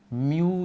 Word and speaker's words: म्यू: इसका उच्चारण हम इस तरीके से म्यू के रूप में करते हैं।